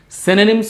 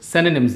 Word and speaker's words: synonym: And guys, the word is pronounced as synonym, not synonym. Okay, I have heard many people, they pronounce this word as synonyms. No, that's not synonyms, that's synonym.